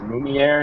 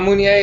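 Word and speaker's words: Meunier: I think it's Munier is how you pronounce it, I'm pretty sure.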